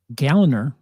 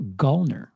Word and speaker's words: Gallner: learned from uh like Kyle gallner says it's pronounced gallner not gner oh funny the go